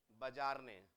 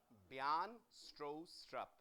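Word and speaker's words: Bjarne Stroustrup: का नाम पढ़ना सीखे कैसे पढ़ेंगे बजारने नहीं ऐसे नहीं पढ़ेंगे याद रखिएगा the alphabet J is silent इनका नाम प्रोनाउंस करा जाता है ब्यान स्ट्रो स्ट्रप बोलिए वापस बयान स्ट्रो स्ट्रप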